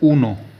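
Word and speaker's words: uno: उसके बाद एक एक को बोला जाता है उनो या उना उनो या उना उनो या उना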